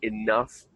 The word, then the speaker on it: enough: Of course, it's worth mentioning for words like enough and cough, we make the F sound.